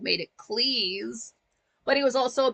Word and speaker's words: Cleese: I will say, as far as John Cleese goes, it is pronounced Cleese, not Cleese, because his father, originally